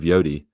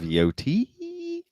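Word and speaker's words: Yōtei: part of Ghost whatever, you have to say it with intensity. If you don't, you're saying it wrong. If you're just like, "Yeah, ghost of Yodi or Yote," you're wrong. That's not how you ghost of Yotei.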